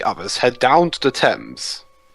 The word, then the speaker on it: Thames: head down to the thames don't you mean the tames it's if there is a sense of course it's pronounced differently over here in America or you Americans average